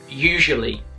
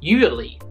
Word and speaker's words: usually: So if I give you an example of a word, the word is usually. Now often when I hear Chinese pronounce it, they say usually or usually.